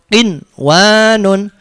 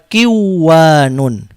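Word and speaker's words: قِنْوَانٌ: Bacanya qinwanun, tidak boleh dibaca kiwanun.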